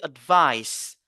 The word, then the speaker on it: advice: mot on voit ici advice advice ici le a n'est pas prononcé comme a mais plutôt c'est le choix pourquoi parce que ici euh le a a un son faible comme on a dit